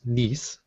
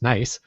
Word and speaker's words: Nice: You know, for the longest time, I thought that was actually pronounced niece because Yeah. I thought it couldn't possibly be pronounced nice No. until I learned better, and it is actually pronounced nice.